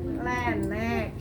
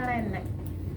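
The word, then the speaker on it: Laennec: Pakai alat yang kayak trompet, lenek, laenek, pakai C tulisannya, laenek, ya bacanya lenek.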